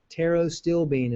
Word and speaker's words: pterostilbene: Pterostilbene is how you pronounce it.